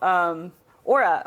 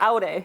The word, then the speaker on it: Aurae: we're going to be talking about Aurae, or Aurae, however you want to pronounce it is fine, which we're temporarily calling